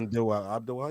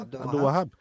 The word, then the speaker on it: Abdel Wahab: Hamdi Abdel Wahab. Is that how you say his name? That's good. Abdel Wahab. Yeah, you're good. Yeah. Abdel Wahab.